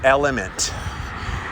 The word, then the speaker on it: LMNT: there's this great company called element it's spelled lmnt if you go to